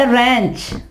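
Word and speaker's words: wrench: ठीक है, इसके अलावा रैंच, इसके बाद रैंच, यहां पे देखें W साइलेंट हो जाएगा, रैंच।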